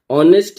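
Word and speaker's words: honest: ऑनेस्ट है।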